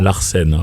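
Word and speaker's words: L'Artscène: Enfin, l'association Larsen. L'association, voilà. Exactement. Larsen, oui, j'adore. Ça s'écrit l'apostrophe. ARTSCENE Voilà, comme l'art c'est ça, et la scène.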